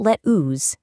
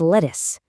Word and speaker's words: lettuce: The letters U and E completely masquerade as a short it sound here in words like lettuce, busy, business, and minute. It is not let ooze, it's lettuce. It's not bi, it's busy.